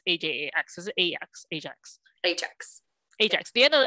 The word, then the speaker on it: Ajax: Like they're known, how do you pronounce A-J-A-X? Is it A-X? Ajax?